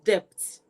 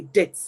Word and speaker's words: debt: it's ought to be debt d-e-b-t the B is silent it's ought to be death and not depth so when you think in